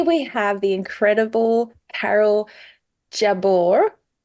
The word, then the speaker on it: Jabbour: have the incredible Carol Jabor is that how you pronounce it Jabor that's fine jab or if or if you're in Lebanon Jabor oh how do you saying yeah jabur jabur jabur that's it oh that feels